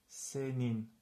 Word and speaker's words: senin: So, e and n are not in the same syllable, so we pronounce this senin.